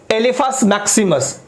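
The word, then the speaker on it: Elephas maximus: एलिफस। एिफेंट से याद रखिएगा एलिफस मैक्सिममस।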